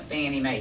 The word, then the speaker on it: Fannie Mae: The Federal National Mortgage Association, FNMA, that's why we call it Fannie Mae. Fannie Mae is just a cutesy abbreviation, or a cutesy way of pronouncing the abbreviation, FNMA, the Federal National Mortgage Association.